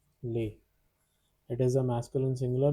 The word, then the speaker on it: lait: Pronunciation is lait.